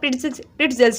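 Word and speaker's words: pretzels: प्रिट्ज़ल्स, इसमें T silent नहीं है, इसको आप प्रिट्ज़ल्स ही पढ़ेंगे। इसके बाद गुलाब जामुन को कहते हैं हम रोज़बेरी, रसगुल्ला सिरप फिल्ड रोल।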